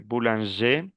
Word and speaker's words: boulanger: Exemple, boulanger, cuando termina en R, no pronuncio la R. Boulanger, boulangère. Le féminin, oui, je prononce le R.